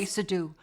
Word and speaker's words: sudo: Do not say sudo. Do not say soo. Stands for super user do.